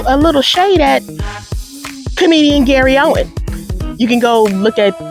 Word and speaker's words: Gary Owen: Now, when Gary Owen, okay, first of all, his name is Gary Owen without the S.